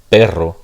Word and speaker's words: perro: But notice that if I were to spell it with a double R, the double R, this would be a trill. So this would be a trill, this would be a flap.